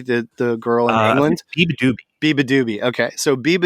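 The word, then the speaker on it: Beabadoobee: don't know exactly how to say this, but Bia Do Bibi, the girl in England. Biba Doobie.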